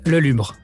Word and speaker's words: Lelubre: if you wouldn't mind yeah so um even in french i've i have a hard time pronouncing it uh it's le lumre okay i'm going to